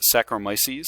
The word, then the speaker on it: saccharomyces: go through fermentation and you can see i mispronounced a little bit but it's saccharomyces is the type of yeast that organism that